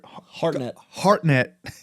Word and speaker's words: Hartnett: Hairnet or Hartnett.